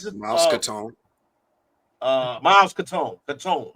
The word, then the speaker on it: Caton: Catone. Okay, Catone. That's how you pronounce it.